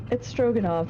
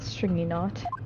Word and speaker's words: Stroganov: It's Stroganov, not Stringy Knot.